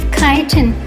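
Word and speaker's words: chitin: Although the squids lack exterior shells, they have a vestigial shell inside made of kiten, which is spelled c h i t i n.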